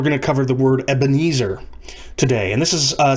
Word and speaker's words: Ebenezer: other hymns as well so ebenezer is the way that we pronounce the english transliteration but it's a transliteration of evan evan is a word meaning stone or rock and ha azer in